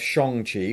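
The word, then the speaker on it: Shang-Chi: we're about to have shang chi which i've learned is how it's pronounced not shangji it's shang eternals is going to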